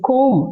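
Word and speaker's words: comb: சோ கோம் கிடையாது பி வந்து silent B ப்ரோனௌன்ஸ் பண்ணக்கூடாது. சோ கோம் அப்படின்னுதான் சொல்லணும்.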